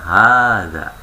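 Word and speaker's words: هذا: Iya, haknya ingat, kalau hak seperti haza tadi. Kan tulisannya haza, pendek ya. Aslinya panjang Ibu, maka baca panjang. Haza.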